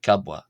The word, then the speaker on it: ⲕⲁⲃⲃⲁ: of the letter wa the first uh wa is a b and the second is a w sound. So kabwa gabwa.